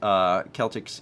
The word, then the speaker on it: Celtic: There is a soccer team, also pronounced Celtics in Scotland, but it is pronounced with the Kel sound, like in the culture name.